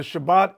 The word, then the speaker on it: Shabbat: be no last so the Shabbat is how they pronounced it in Hebrew the Sabbath all right and that's